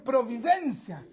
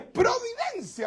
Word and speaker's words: Providencia: La comuna de Providencia es algunos nos le dicen Providencia. Providencia, le ponen como un tono. Y es Providencia, o sea, se pronuncia tal cual se escribe.